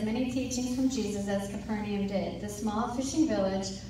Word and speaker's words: Capernaum: How do you say they say it in the Chosen? Capernaum. It's actually Capernaum.